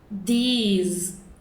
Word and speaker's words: these: These. A pronúncia é bem mais longa.